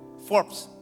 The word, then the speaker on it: Forbes: Begitu lihat majalah forbs itu ya bacanya forbs atau Forbes itu bantu aku dong Apa bacanya forbs Ya forbs dulu kita orang terkaya